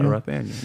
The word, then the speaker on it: Rothaniel: Am I pronouncing your first name right? Rothaniel? Yeah, Rothaniel.